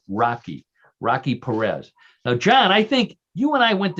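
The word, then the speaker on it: Roque Pérez: So this comes from a city, but it's spelled Roque Perez, and I believe it's pronounced, believe it or not, Rocky Perez.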